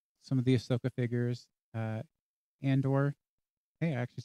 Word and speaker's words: Andor: Andor.